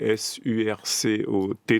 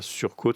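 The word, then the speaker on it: surcot: Et surco, effectivement, là du coup la prononciation, pas de E, donc c'est pas surcôte, ce n'est pas surcôte.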